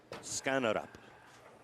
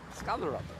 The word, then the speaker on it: Skanderborg: Skanderborg. Skanderborg. You think so? Yeah. All I know is he told me don't say the D. Right. Skanderborg.